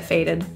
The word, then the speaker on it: faded: she's feeling a bit faded the final D in this word is voiced so feel a vibration there on your throat Flex this means to